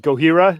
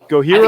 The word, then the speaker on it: Gojira: Gojira? I think it's Gojira. We always pronounced it like with a, from California, so we would do it like the Spanish way.